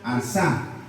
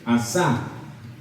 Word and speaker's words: asá: Por esa palabra, guardar y hacer, viene de una misma palabra hebrea que se llama o se pronuncia asá. A-S-A con su acento, asá.